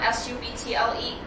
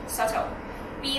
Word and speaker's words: subtle: 喺呢度 subtle 啦，S-U-B-T-L-E，佢發音咧係 subtle，B 咧係 silence 嘅，所以係 subtle。意思係暗地裏嘅改變咁解，係唔明顯嘅改變。He is confident that science